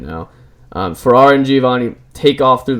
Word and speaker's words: Ferrara: Ferrara.